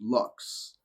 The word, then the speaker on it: lux: In the Latin, the word of the light spelled LVX and pronounced lux with the U sounding like that in the new.